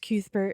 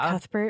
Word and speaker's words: Cuthbert: It's pronounced Kethbert in the book. So, I'm probably gonna go back and forth because I always thought that sounded dumb and I always said Cuthbert and now it's like been ingrained in me.